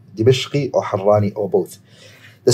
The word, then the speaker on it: Dimashq: And some scholars, they actually say, Al-Harraniyu thumma Dimashqi. Okay? By the way, some people, they say Damashq. It's actually not, it's Dimashq. Dimashq. Okay? Dimashq, off like that, that's how you say it.